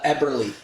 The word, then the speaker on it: Eberle: Uh Eberly.